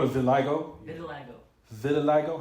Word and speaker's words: vitiligo: They call it vitiligo?